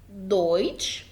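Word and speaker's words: Deutsch: اذا جاء حرف الدي في اول الكلام او في النص بينطق دي، اما اذا جاء في اخر الكلام ينطق تي. تعالوا نشوف امثله. دويتش دي، دويتش يعني ألماني. دانك زي ما انت شايف تقرا دال دي.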